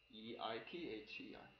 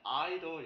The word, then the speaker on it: either: 이거는 either이라고 발음하면 돼. either. 근데 약간 미국, 캐나다 약간 미국 쪽에서는 either이라고 발음을 하긴 하는데 영국이나 호주 같은 약간 영국 쪽 발음하는 애들은 either 이렇게 발음하는 데도 있긴 해. 네, 우리나라는 거의 미국식으로 영어를 배우니까 either이라고 발음하면 돼요.